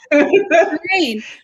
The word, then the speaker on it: Corayne: Can you tell me about Coraine? Is that how you pronounce her name? That's perfect. You got it. Coraine.